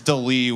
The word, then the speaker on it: D'Lee: Her name is Delee, which is spelled D'LEE.